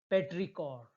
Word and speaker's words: petrichor: Earth's smell after rain is called petrichor. How to pronounce this word, friends?